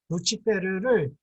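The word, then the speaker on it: Lucifer: 루시퍼는 라틴어를 그대로 음역한 겁니다. 라틴어로는 루치페르입니다. 루치페르를 글자 그대로 영어에서 옮겨서 이거를 루시퍼라고 했는데 이 루시퍼 하면 한국에서는 발음이 힘들기 때문에 옛날에는 루스벨 그랬습니다.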